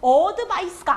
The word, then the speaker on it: advice: 여기 슈아가 앞에 붙었어요. 이거 그래서 advice가 아니에요. 소리가 아니고 advice. 다시 한번 하겠습니다. vice에 강세 들어가요. 자, 앞에 있을 땐 쉬웠죠?